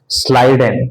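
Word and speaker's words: Schleiden: एक का नाम है मैथियस स्लाइडेन। 1838 में German botanist Matthias स्लाइडेन, Matthias स्लाइडेन, स्लाइडेन की स्पेलिंग SCHLI, मैथियस स्लाइडेन।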